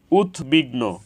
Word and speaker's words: উদ্বিগ্ন: ফলার উচ্চারণ অবিকৃত হয়েছে উৎবিঘ্ন এখানে উৎ এর সাথে বফালা যুক্ত হয়েছে এজন্য বফলার উচ্চারণ অবিকৃত হয়েছে উৎবিড়াল এখানে উৎ এর